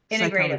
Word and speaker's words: Integrative: Integrative.